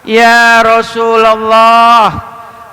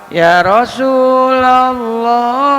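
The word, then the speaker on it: يا رسولَ الله: harfun Nida huruf panggilan kalau ada ya harpun Nida maka setelahnya dibacanya fathah Ya Rasulullah Makanya jangan salah tuh kalau baca hadr e baca selawat tuh Ya Rasulallah salam ya i Ya Rasulallah jangan ya Rasulullah ah itu salah bacanya ya Heeh Salah bacanya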